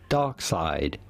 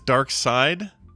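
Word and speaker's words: Darkseid: does here his name you can pretty much forget about the strange spelling of it it's simply dark side so it is dark side not dark all right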